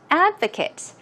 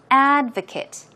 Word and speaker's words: advocate: is texture texture and advocate in the noun form the stress goes on the first syllable so it is Advocate Advocate okay as a